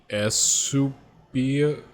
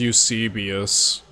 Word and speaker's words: Eusebius: distant person of the royal family, which is, Esubia? Wait. I need to learn how to pronounce this. Yeah, so it was Eusebius.